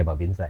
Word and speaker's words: Babinsa: Jadi Babinkau tapi tetap pelafalan fasih di penyebutan ya Babinsa ya Pak. Iya, tetap Babinsa.